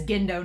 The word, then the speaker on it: Gendo: So it is Gendo, not Jindo. It's like GIF versus GIF sort of thing.